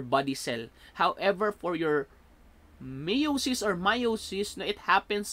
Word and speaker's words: meiosis: called meiosis so meiosis some others pronounce mayo she's either way pero hindi siya mitosis or meiosis i'll be called consistently a pronouncing that one as meiosis alright so mei OS